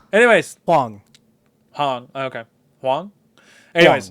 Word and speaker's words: Huang: I always forget how to pronounce his last name. Anyways. Hong. Okay. Huang? Anyways. Huang.